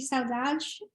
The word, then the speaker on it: Saudade: It's O Samba de Saudade.